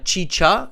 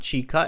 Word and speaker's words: chicha: so Carolina says uh chicha it's both cha Chi it's not chica it's chicha thank you Carolina Carolina